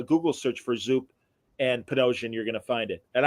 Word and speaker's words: Panosian: search for Zoop and potosian you're gonna find it and I'm sorry say your name again because I keep saying it I pronounce it pan ocean it's just easy yeah but uh I